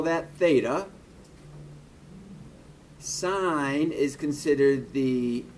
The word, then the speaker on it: sine: and hypotenuse is for sine adjacent hypotenuse is for cosine and tangent is opposite over adjacent notice that when we talk about s-i-n we're not pronouncing it sin we always pronounce it sine just like with cos